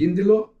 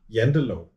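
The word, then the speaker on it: Janteloven: lot, is about the, correct me if I'm pronouncing it wrong, the Yindelaw. Ah. Yendelaw.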